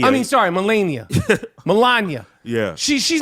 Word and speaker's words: Melania: that's not his wife it's melenia I mean sorry melenia Melania yeah she she's not ever going to live